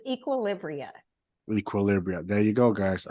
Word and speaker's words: Equilibria: Please do me the honor of pronouncing your company's name correctly. It's Equilibria.